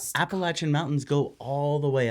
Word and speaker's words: Appalachia: This is how I pronounce Appalachia, and it's overwhelmingly Appalachia, of course, which is fun.